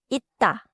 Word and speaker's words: 있다: third final 쌍시옷 sounds like as in 있다. pronounced 있다.